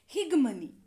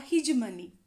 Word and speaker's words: hegemony: popular and the masses higmani or hegemony both the pronunciations are correct h e g e